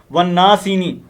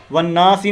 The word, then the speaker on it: والناس: والناسینی، یہ مسٹیک آپ نے نہیں کرنی. اب والناسی نہیں پڑھنا، بلکہ کیا ہے والناس.